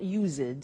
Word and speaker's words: used to: Look at the spelling. It's U-S-E-D and then T-O. But the pronunciation is not used, it's used.